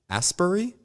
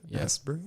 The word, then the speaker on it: Asbury: release date May 3rd 2019 directed by Kelly Astbury um Asbury Asbury yes pronounced that's a little better really dolls I